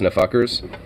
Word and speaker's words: NFKRS: Well, his channel is NFKRS, but it's pronounced Nfuckers, and he's a Russian